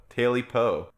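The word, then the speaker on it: Tailypo: If you want to look it up, it's spelled tail and then Y-P-O, Taily Po.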